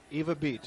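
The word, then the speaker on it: Ewa Beach: Eva Beach is how you say that.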